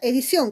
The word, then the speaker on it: edición: La siguiente palabra es la palabra edición. ¿Cuántas sílabas? Edición. Tiene, profesora, 3 sílabas. ¿Y en dónde está la mayor fuerza de voz? Ah, profesora, en sion. Por lo tanto, esa sería tu sílaba tónica.